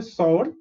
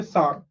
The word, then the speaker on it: sour: You don't say sour, you say sour. Very weird pronunciation, right? Sour तो SAR लिख दो, but नहीं, हमें SOUR लिखना है. sour. Okay, OUR is our, right? So sour, sour.